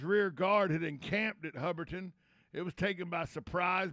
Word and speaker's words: Hubbardton: on July 7th at Humberton. Where? Humberton. Tom, what? I've never heard of Humberton in my life. Well, excuse me, Hubberton. I always say it wrong. Hubberton. It's Hubbardton. Hubberton. It's in present-day Vermont.